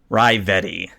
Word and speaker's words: Ravetti: Ravetti is how you say it.